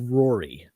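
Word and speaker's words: Ruaidhrí: That name is actually pronounced, despite there being a D, an H, a U, an A, an I, just a bunch of conjumbled letters. The name is pronounced Rory.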